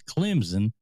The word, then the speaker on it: Clemson: It's Clemson. No. There's no Z in Clemson.